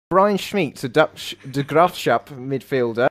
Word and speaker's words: Smeets: I think it's pronounced Smeets, who his contract ends with the Graafschap in the summer.